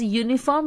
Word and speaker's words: uniform: umbrella a uniform because uniform is pronounced as uniform while writing you might be writing with you but while pronouncing we are pronouncing it like y okay so that is